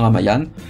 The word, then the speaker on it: Ramayana: Alors c'est écrit Ramayana, mais ça se prononce plus ou moins Ramayana, qui est une histoire fondamentale en Inde et dans tout le monde hindou et en Asie du Sud-Est.